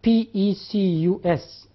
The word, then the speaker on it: pecus: They borrowed a word from Latin, spelled like that, P-E-C-U-S, pecus.